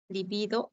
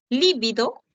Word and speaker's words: libido: liido liido es grave libido es grave líbido es esdrújula son homófonas no bueno